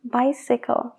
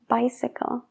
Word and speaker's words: bicycle: Emergency y bicycle. Emergency y bicycle. La CY se pronuncia como SY.